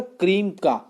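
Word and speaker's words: Cremica: इसको पहले इन्होंने जो नाम दिया था ना, वो था क्रीम का। आप देखिए, क्रेमिका को हम अब जो प्रोनाउंसिएशन कर रहे हैं वो कर रहे हैं मिसेस बेक्टर्स क्रेमिका। ये वैसे अगर उन्होंने देखो एक हिंदी वर्ड आ जाता है क्रीम का, क्योंकि इनके बिस्किट ज्यादातर क्रीम के होते हैं।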